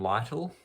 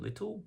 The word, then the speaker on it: Lyttle: My name is Lyttle. A lot of people pronounce it Little, but I pronounce it Lyttle.